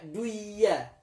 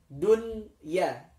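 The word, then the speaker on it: دنيا: Tapi khusus untuk kata dunya, maka tidak boleh dibaca duya. Hanya dibacanya menjadi jelas dunya, dunya.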